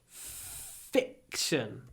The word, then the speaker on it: fiction: read a lot of fiction just don't say fiction like we don't say fish we say fic really short I before the C fiction fiction fiction a lot